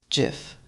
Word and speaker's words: GIF: I pronounce it GIF with a hard G sound.